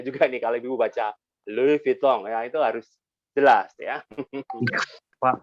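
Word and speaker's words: Louis Vuitton: yang paling tahu ya elfit live pisang Gimana bacanya lalui Pitung itu harus jadi kalau normatif di akhir kelas beregu weh halus piton Nah itu salah itu jadi ada-ada qalqalahnya juga nih kalau gue baca luvitong yaitu harus jelas ya kok Oke ini si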